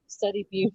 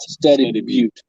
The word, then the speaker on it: Study Butte: Study Butte. Study Butte. Study Buddy. Study Buddy. Anybody? Butte. However you want to pronounce Butte.